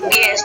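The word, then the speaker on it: guest: जी यू ई एस, गेस्ट, ठीक है। यहाँ पे यू आपका क्या है?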